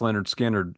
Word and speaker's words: Lynyrd Skynyrd: episode I think I like the first album pronounced Leonard skinnard even better but this album is very strong